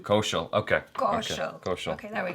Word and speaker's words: Kaushal: Vicky Kaushal. Kaushal, okay. Kaushal.